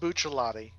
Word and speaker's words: Bucciarati: It's actually it is pronounced Bucciolati. Oh, okay. It's the Italian C there. That Right was on. your hang up. It's the CHC.